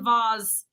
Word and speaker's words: vase: art yeah so she peggy says vase and vaz there's a huge price difference it's like a vaz is decorative and it has like gemstones how much you spell